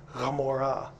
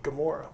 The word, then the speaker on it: Gomorrah: And they decided, well, a a a g duh sounds like huh. And so, like Gomorrah is spelled with one of these in the front. It's actually Ghamorah. Okay, so the Greeks put a g, Gomorrah.